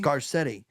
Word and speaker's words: Garcetti: I'll say Garcetti, this. right? Is it how do you pronounce Garcetti? it? Garcetti.